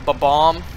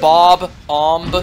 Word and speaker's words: Bob-omb: Does anyone else always just pronounce ba-bomb like that? A ba-bomb? Instead of Bob-omb?